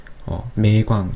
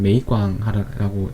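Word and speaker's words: 梅廣: 그리고 마지막으로 소개해드릴 책은 고대 중국어 문법론 매광, 중국 발음으로는 메이광이라고 읽는 건데 이분은 이제 대만 대학에서 하시다가 그 타이완 칭화대 쪽에서 이제 교수로 계신 분인데요.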